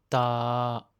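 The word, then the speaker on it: ตา: Pour le non aspiré, quand on le prononce, il faut faire attention de ne pas souffler d'air du tout. Seul le son sort de votre bouche. Soyez particulièrement vigilants sur les sons ti, t, qui ne sont pas naturels en français. L'œil se dit ta.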